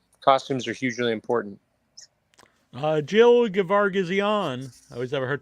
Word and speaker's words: Geoghegan: Jill Geoghegan. I always have a hard time saying that. I believe I said it right. Geoghegan, yes, we love you.